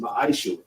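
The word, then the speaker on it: מעשר: It means 10th in Hebrew and it's pronounced ma'aishu.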